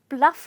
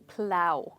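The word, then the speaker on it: plough: का इस्तेमाल किया है पर हम इसको पलफ नहीं बोलेंगे ओके हम इसको बोलेंगे प्लाउ प्लाउ का मतलब होता है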